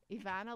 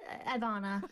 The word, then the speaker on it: Evanna: Well, people just don't pronounce the E. They say Ivana, but you just said it perfectly.